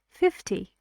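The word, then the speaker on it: fifty: it's something between them the sound here is something between a and E something between them not too long and not too short for example you had it in unit one like 50. like lovely you don't say lovely or lovely you say lovely 50.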